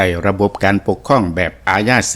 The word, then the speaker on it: อาญา: เก่า ๆ ก็ สิ ออก เสียง โต ยอ ผู้ หญิง ขึ้น ดัง ตาม แบบ แผน บาลี แล ก็ ตาม แบบ ของ การ ออก เสียง ยอ ดังง เดิม ของ ลาว ก็ สิ เป็น ตัว ยอ มัก สิ ได้ ยิน คำ คน เฒ่า คน แก่ นั่น แหละ ครับ เพิ่น เอิ้น หรือ ว่า ออก เสียง คำ ว่า ยา นี่ ว่า ยา จัง เป็น อาญา ยา ท่าน จังซี่